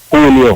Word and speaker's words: Julio: But the J, when you see J in Spanish, I pronounce like a H in English.